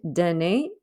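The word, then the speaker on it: donner: it sounds shershey and danae which means to give as in donate like in english if our pronoun is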